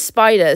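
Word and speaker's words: Spyder: This is Spider. Spider is got a little spider, but it's spelled like spy, like it's, I'm a spy, but also a duh.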